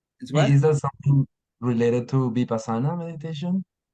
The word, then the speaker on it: Vipassana: And of I course, how to say the word Vipassana depends on where you come from, because the people in Pali in around Naples say it differently than people in India.